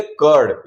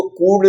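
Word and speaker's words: curd: नहीं बोला है ओके इसको बोलेंगे कर्ड इसको कूड नहीं बोला है तो वैसे ही जब यू के बाद आर आता है तो यू को हम अ पढ़ते हैं।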